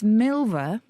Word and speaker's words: milver: Something does rhyme with silver. Oh. We could have called our podcast that. It's Milver. Yes. It's spelled silver with an M.